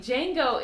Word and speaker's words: Django: go it's so silly Django is spelled EJ but I never think of the J even though when you say it you say Django okay ah I'm looking